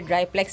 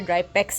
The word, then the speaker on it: Drypex: ये ड्राईप्लेक्स नहीं है, ड्राईपेक्स है, ठीक है, और ड्राईपेक्स गोल्ड है ये।